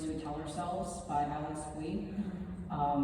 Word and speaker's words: Bui: The first one is called Chinese Ghost Stories We Tell Ourselves by Alex Bui. It's B-U-I. Alex, I think it's spelled A-L-Y-X.